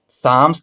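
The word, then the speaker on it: psalms: थी सी knew all साम्स by heart वो जो है सारी प्रार्थना हों को साम्स का मतलब होता है प्रार्थनाएं ये जो मम लिखा है इसमें एल साइलेंट और पी साइलेंट बोला जाएगा तो यहां पर देखेंगे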